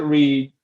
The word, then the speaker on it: REA: Um so we call it Reed.